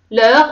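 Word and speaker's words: leurs: لور على فان اس. الاس ما تتنطقش.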